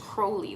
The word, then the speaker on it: Crowley: I was told it's pronounced Crowley, like it's supposed to rhyme with Holy.